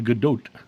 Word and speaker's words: Gal Gadot: when they would say Gal Gadot because her pronunciation was Gal Gadot and I wanted the other the Godot and so I contacted them I said you know you really should use her actual pronunciation and they actually did